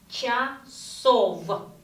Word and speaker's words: часов: And here it's not час, it's not часа, it's часов. Часов. Instead of V, we pronounce F.